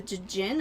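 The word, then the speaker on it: Djinn: I think you can combine the Dijin, but I might be thinking of something else. Or the Jin. The Dijin. I don't know. They're tiny little spritey Jin. babies. It's Jin. Okay. The D is silent.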